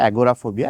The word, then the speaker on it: agoraphobia: করে বলেন 11 ফোবিয়া তো এটা আসলে ইংরেজি উচ্চারণ ইংরেজি হচ্ছে যে বলে এটা এগোরাফোবিয়া এগোরা মানে মার্কেটপ্লেস বড় একটা উন্মুক্ত স্থান বা